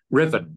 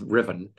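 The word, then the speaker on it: Ruthven: out of Lo Hara and went to um Riven which on a map people will find SP as R thenen but it's pronounced as Riven and it's where the barracks is on a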